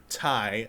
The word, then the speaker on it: Ti: To put this into perspective, 2 years ago, I bought an RTX 2080 Ti. It's not pronounced Ti, it's pronounced Ti. I was corrected. Ooh. But Are you TI, kidding me?